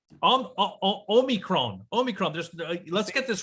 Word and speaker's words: omicron: good so what do we know about um omnicron um omicron omicron just let's get this right guys see